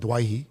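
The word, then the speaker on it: Doueihi: Dewey so I'm playing who is by the way Adam and Dwight he I appreciate the fact that you say it properly um not quite sure why he lets people call him do it well he said he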